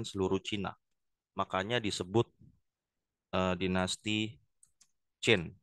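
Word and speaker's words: Qin: Cina makanya disebut dinasti jin Nah ini bacanya Yang pertama adalah Jin seuw Wang Ya ya guys nah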